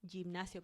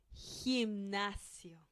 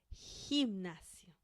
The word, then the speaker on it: gimnasio: So if you look at these words, I know you might feel tempted to read them like this. Gente, gimnasio, but we don't do that. We have to pronounce them like this. Gente, gimnasio. You see? Gente, gimnasio. So G-E and G-I sound.